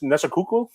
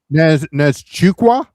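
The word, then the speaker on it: Nzechukwu: Uh Kenn Kennedy, I can never pronounce his name either. Nees Nesaku versus Shamil Gaza Nes Chukqua.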